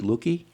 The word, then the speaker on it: Luckie: Lucky. Lucky. Yeah. Do people mispronounce your name?